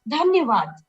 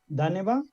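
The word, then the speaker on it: धन्यवाद: It's like, Dhanyavad. Oh my God. Dhaneva?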